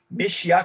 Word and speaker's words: Meshiya: casado ele é do templo luz do oriente mexia Canon acertei a pronúncia certinho perfeito é o Marcos é ministro